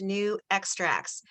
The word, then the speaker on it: NuXtrax: just changed their name their corporate name to new extracts and so that's down here that's how it's pronounced new extracts and um i'm gonna